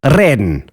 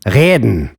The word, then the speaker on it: reden: About 100 years ago, the majority of standard German speakers used to roll their R's, reden. But I'm sad to report that nowadays, the throats of millions of German speakers have been infected by the guttural R, reden.